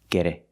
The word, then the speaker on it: get it: it over with just get it over with let's look at the pronunciation the tea and get is pronounced with a fast D sound get it get it get it